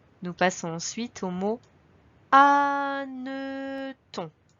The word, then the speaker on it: hanneton: Nous passons ensuite au mot hanneton. Comme pour le mot hérisson, on retrouve ici un H muet au début. Ensuite, on remarque qu'il y a 2 N à hanneton.